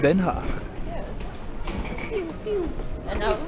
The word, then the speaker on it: Den Haag: Y esta es la estación de tren de Den Haag. How do you say it? Yeah, you said it correctly. Den Haag. Den Haag.